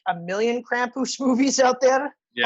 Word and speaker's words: Krampus: pantsers we are doing krampus now to be fair there's uh now like a million krampus movies out there yeah i'm sorry campus that's i gotta pronounce the r properly yeah you gotta do